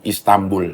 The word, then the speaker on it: Istanbul: Nun mati ketemu Ba. Ba itu iklap. Jadi bacanya M, Istanbul.